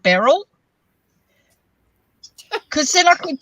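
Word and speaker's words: Beryl: okay do you know anyone called Barrel b-e-r-y-l yeah it's an older name I've read it in books people named Barrel that I don't know anyone yeah rhymes with Cheryl you always wanted a dog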